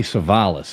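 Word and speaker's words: Savalas: Len be Telly savales Telly savales is how you say that one see that right there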